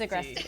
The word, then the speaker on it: Agresti: And now I'm gonna mispronounce her last name. Agresti. It's Agresti.